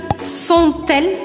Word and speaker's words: sont-elles: E fica sont-elles, sont-elles. Aí, obrigatoriamente, eu preciso pronunciar esse T, porque a próxima palavra começa com E.